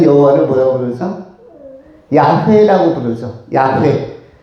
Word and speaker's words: 야훼: 야훼. 야훼 내지는 야훼께서. 왜 야훼라고 발음을 합니까?